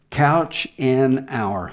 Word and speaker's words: Couchenour: Couch an hour. Couch an hour is how you spell it.